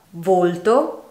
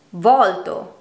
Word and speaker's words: volto: Volto, volto. Sorta, sorta. Queste parole sono dunque uguali nella scrittura ma ben diverse nel significato e grazie alla pronuncia differente della loro E o della loro O le possiamo distinguere.